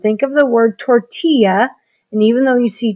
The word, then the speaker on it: tortilla: When you see these two L's together, it turns into the Y sound. Think of the word tortilla.